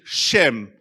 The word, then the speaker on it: Shem: So the word name in Hebrew is Shem, S-E-M with a macron above the E, Shem. It's pronounced Shem. And so the word Shem